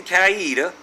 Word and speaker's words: Coweta: If approved, nurses at public schools in Coweta, that's how they say it around here, even though it says Coweta, could administer naloxone, also known by the brand name Narcan, to students.